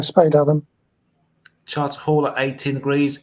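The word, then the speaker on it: Spadeadam: How do you pronounce that? Spade Adam or yeah, Spade Adam.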